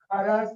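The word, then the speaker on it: Kharasch: This is called as Kharas effect. Spelling बराबर है ना? SCH है ना?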